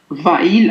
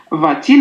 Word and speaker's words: va-t-il: فعوض أن نقول Va-il à l'école تكون صعبة شيئا ما فنضيف حرف T فيسهل النطق وتصبح Va-t-il à l'école.